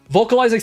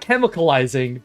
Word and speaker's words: Vocalizing: Vocalizing Salamandeus, thank you. Yeah, I was like, it's not chemicalizing, but I was like, it's either chemicalizing or vocalizing, and I didn't want to just keep saying it wrong over and over.